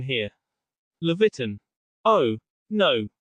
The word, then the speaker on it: Leviathan: There's some dispute among historians how to pronounce that one. He's a water demon who, every few hundred years, terrorizes ships at sea. Although we can never get all the pronunciations perfect because of the language gap, I like to call him Leviathan.